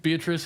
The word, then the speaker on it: Beatrice: Beatrice is his Crush Beatrice is his crush and I'm I'm G to insist on beatric because the rhythm of the lines doesn't scan properly unless you give it the full four syllables so yeah B and